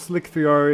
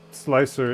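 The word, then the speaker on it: Slic3r: that prints right um no it is not pronounced slick 3r it's pronounced slicer it it's supposed to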